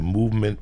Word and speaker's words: MVMT: I get you a movement watch that'll rock your world.